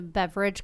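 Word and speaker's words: Beveridge: Landing I love that it's called the beverage curve it's not spelled like beverage but it sounds like beverage and it just makes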